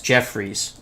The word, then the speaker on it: Jeffress: jeff jeffries jeffress jeffries jeremy j e f f r e s s jeffreys that's the way i'm going to pronounce it and we actually have